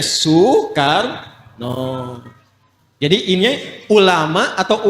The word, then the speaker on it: Soekarno: Karena itu Presiden Soekarno ditulisnya Soekarno, dibacanya Soekarno.